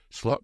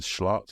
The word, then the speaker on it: Slot: how his names pronounced people are kind of saying Anna instead of Anie and and schlot instead of slot it's going to be Annie slot isn't it I mean